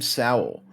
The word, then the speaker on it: Sowell: As you get a sack Sowell. here. It's basically Howell, but pronounced with an S. It would be Saul. It's Sowell.